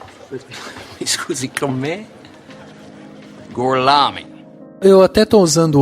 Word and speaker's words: Gorlami: Lo pronuncio correttamente? Sì, corretto. Gorlomi? Per cortesia, me lo ripeti ancora. Gorlami. Mi scusi, con me? Gorlami.